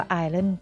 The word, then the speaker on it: Ireland: ขึ้น หน้า จอ ค่ะ อ่าน ออก เสียง ว่า อาย เล่น นะ คะ หรือ ว่า Republic of ireland คน ไทย ส่วน ใหญ่ จะ อาจ เป็น ไอส์ แลนด์ ซึ่ง ไอร์แลนด์ และ ไอซ์แลนด์ ต่าง กัน นะ คะ คน ละ ประเทศ